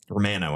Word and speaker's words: Romano: Yeah, Romano, I think is the correct pronunciation there.